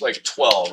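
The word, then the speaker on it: TwHELLve: So, I vibe coded a program called 12. And I spell it like this, t w and then all capital h e l l and then v e. So, it's like 12, right?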